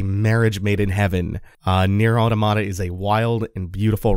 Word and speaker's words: automata: Automata is short for automaton, like a robot. Therefore, automata is probably the correct pronunciation, but that's cumbersome, so I'm gonna be saying it a lot like automata, like automatopoeia, because I'm lazy, and that rolls off the tongue more easily.